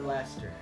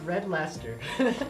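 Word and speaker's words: Red Leicester: is this cheddar or Lester Lester that's that's what it's pronounced yeah so this crazy word here is pronounced red Lester wait let me see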